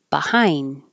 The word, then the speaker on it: behind: Besides, become, behind. You won't hear the D. Hold the D. Behind.